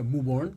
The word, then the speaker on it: Mauborgne: Mauborgne. Yeah, Mauborgne. It's Canada, French. It's Canadian French.